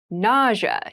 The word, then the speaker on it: nausea: Nausea is a very interesting word with an interesting spelling. Nausea is the pronunciation.